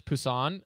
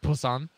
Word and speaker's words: Busan: sorry guys it's it's it's with a B but I've heard it's pronounced with like a BP sound in Korean Pusan I can't son was on Busan and they have sanctuary